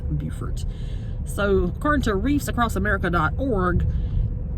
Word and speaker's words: Beaufort: refer to it as Beaufort National Cemetery however in South Carolina it is pronounced Beaufort as in the way beautiful is pronounced so that's the difference if you're in North Carolina it is Beaufort but in South Carolina